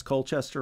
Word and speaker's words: Colchester: Essex there's a city called Colchester did I pronounce Colchester right no you did it right okay that's